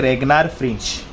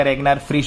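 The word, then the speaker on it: Ragnar Frisch: भाई आ गए अपने रेगनार फ्रिंच। ठीक है? सबका अपना-अपना वो है क्या बोलते हैं इनको भी बोलने का के इनका नाम प्रोनाउंस करने का रेगनार फ्रिच बोलता है।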